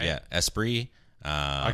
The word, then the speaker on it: Esprit: esate stuff right yeah espr uh I call him espr like the Lotus which is spelled the same way that is how you